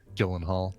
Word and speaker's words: Gyllenhaal: there much they much they've become accustomed to the Americanization of their name and so it's like no just say Gyllenhaal yeah and that reminds